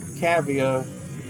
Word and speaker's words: Cavia: Cavia, that's how you pronounce it, who made this game, went on